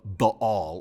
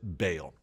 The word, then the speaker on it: Baal: This is the great battle between Elijah and the prophets of Baal, or sometimes we pronounce it Baal.